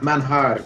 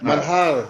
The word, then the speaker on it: Manjar: Is that the correct pronunciation? Manhar. Manhar. Yes, the Yeah.